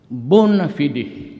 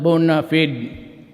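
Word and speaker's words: bona fide: The bonafidi media. Bonafidi media. Sometimes they pronounce it bonafided.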